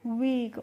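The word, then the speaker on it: week: तो डब्ल्यू ई ए के और डब्ल्यू डबल ई के दोनों का ही प्रोनाउंसिएशन क्या होता है? वीक होता है। दोनों को ही हम क्या पढ़ते हैं? वीक।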